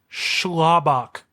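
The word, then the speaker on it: Sclabach: okay are you ready it's spelled s c l a b a c h schlabach schlab it's either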